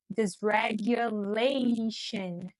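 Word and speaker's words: dysregulation: Olha como tem esse esse G ali no meio. Desragulation.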